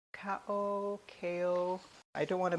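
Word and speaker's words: Cao: It's C-A-O. Kao.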